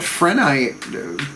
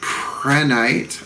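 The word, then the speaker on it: prehnite: casting for harvest with Prenite. I guess that's how you say it, Prenite. The H then would be silent.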